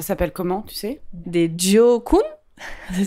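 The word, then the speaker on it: Gỏi cuốn: Des Gio Kun. Ça s'écrit G-I-O.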